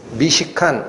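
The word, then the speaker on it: מִשְׁכָּן: 앞에 미라는 접두어를 붙이면 거하는 곳이라는 뜻인 미시칸, 이게 장막이라는 뜻입니다.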